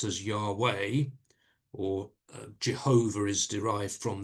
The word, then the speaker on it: Yahweh: name, or the letters YHWH, which is sometimes pronounced as Yahweh, or Jehovah is derived from that as well.